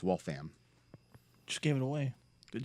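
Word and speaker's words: Waltham: yeah there's also uh wal tha M which people think is wall from it's wall fam just gave it away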